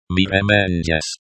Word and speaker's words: mirëmëngjes: mëngjes, This letter represents a schwa sound, and you'll see this a lot in Albanian. But notice that it's reduced and almost not heard at the end of words. mirë, And notice that this digraph is pronounced as a palatal ja, similar to j,